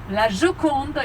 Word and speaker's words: La Gioconde: So, the Americans say Mona Lisa, and in French say Gioconda. Sorry, the Italians say Gioconda, and La Gioconde in French, because the name of the husband of the woman was Giocondo.